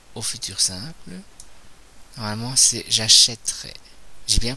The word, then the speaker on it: achèterai: que ça devient au futur simple normalement c'est j'achèterai j'ai bien prononcé e je n'ai pas prononcé e donc